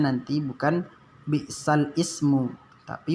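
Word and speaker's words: بئس الاسم: Jadi nanti apabila bertemu dengan naqal seperti yang ada di sini, bacanya jangan nanti bi'sal ismu. Kalau tulisannya memang bi'sal ismu, tapi cara membacanya karena dia naqal, kita baca nanti bi'salismu.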